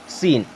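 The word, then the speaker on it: scene: अब देखें, यहाँ पर भी अगर सी को हम साइलेंट कर देते हैं तो क्या हो जाएगा, सीन।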